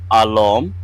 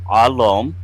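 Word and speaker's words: alm: Mirad we have leadership or command that is alom spelled a l m alom we have leader which is a lore which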